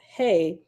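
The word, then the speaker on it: ה: right okay laughs that second letter is hey pronounced hey and symbolizes the Divine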